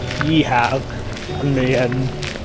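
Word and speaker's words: Geilo: It's spelt gay though, but I've read that it's pronounced Yeehaw on some details.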